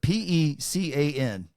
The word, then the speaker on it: pecan: I want you to pronounce the following word: P-E-C-A-N.